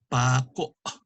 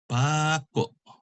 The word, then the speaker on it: pako: One is pronounced pako. The accent is on the second to the last. Pako. This one is pako. The accent is on the last syllable.